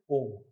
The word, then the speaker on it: AUM: AUM, it is pronounced as AUM. Air Unique Quality Monitoring. अब air quality monitoring हो सकता था, जबरदस्ती यूनिक डाला कि उसका प्रोनाउंसिएशन ओम हो जाए.